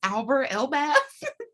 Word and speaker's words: Alber Elbaz: I'm like, is it Elber, Ebaz, Alber, Elbaz? It's yeah, you're right. It's Alber Elbaz.